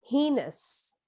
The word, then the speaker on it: heinous: on the first syllable the next word is heinous heinous which is a synonym of wicked or cruel and the stress is on the first syllable this word is a